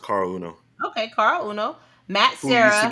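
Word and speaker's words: Caol Uno: Cal Uno Carl Carl it's not R it's pronounced Carl Uno okay car Uno Matt sah used to be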